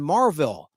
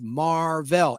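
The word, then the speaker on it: Mar-Vell: The first time he does this, people hear him incorrectly pronounce his name as Captain Marvel instead of Marvel, M-A-R-V-E-L-L.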